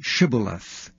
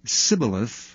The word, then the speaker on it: Shibboleth: If he said, "Nay," then said they unto him, "Say now Shibboleth." And he said, "Sibboleth," for he could not frame to pronounce it right.